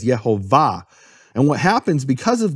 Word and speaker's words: Yehovah: the of the word the emphasis of the word is in the final syllable it's marked that way in all Hebrew manuscripts with vowels no question about it all the Hebrew manuscripts with vowels mark it as yehovah and what happens because